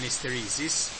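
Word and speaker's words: isteresi: In Italian is called hysteresi, with an accent on the first E.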